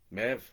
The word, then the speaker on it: Meabh: Mev. See, that's how you do that. So that BH becomes a V sound, which is why it makes it easier to pronounce the name Siobhan.